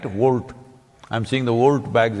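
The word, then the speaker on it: Wolt: Volt. I'm seeing the Volt bags everywhere on the motorcycles. It's spelled wrong though. It's W-O-L-T, they spelled it like that.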